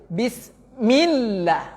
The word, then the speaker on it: Bismillah: Bismillah. Seperti itu baca. Milla itu suara tasdid. Itu suara tasdid. Bedakan suara tasdid sama suara sukun Bapak Ibu.